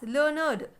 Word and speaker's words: learned: We pronounce it as learned. Id sound. For rhyme with created, waited. Can you hear the id sound? When we pronounce that word, the word is id. It ends with id sound.